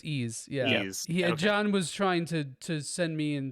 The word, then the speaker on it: Ys: um isn't isn't it isn't the actual pronounced it's ease yes John was trying